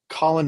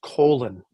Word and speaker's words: Colin: you a quick story somebody announced Colin Montgomery as colon Montgomery one year and and this is